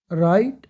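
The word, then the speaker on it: write: लिखना, आर से पहले ना डब्ल्यू साइलेंट रहता है 80-85%। राइट लिखना, रोट, रिटन, फॉरगिव माफ करना, फॉरगिव, फॉरगिवन।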